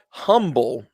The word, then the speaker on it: Humble: And it's spelled humble, but pronounced humble.